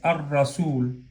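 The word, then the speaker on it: الرسول: Y si la sumas es ar-rasul. Exagero la distancia, pero es así. Ar-rasul.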